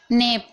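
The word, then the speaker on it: knee: पढ़ा जा रहा है नी नी में आप देख रहे हैं के के बाद एन है तो के को नहीं पढ़ा जा रहा है नाइफ में आप देख रहे हैं के के बाद एन है तो के को नहीं पढ़ा जा रहा है ठीक है अगर के के बाद एन आता है तो के साइलेंट रहता है और अगर आप चाहते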